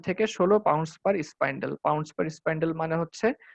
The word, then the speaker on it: spyndle: আর এখানে যেটা এসপিওয়াই, ওটা কিন্তু বানানটা হচ্ছে SPYNDLE, স্পাইন্ডেল।